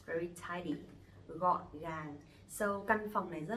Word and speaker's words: gọn gàng: letter G in Vietnamese we pronounce G. G. Okay, so it will be like you goggling in your throat, like it's like that. G. G. Okay. For example, gọn gàng.